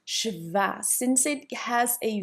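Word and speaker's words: śva: The s with a little thing on top sounds like c h like in the English word ship. Ship. So we pronounce shva.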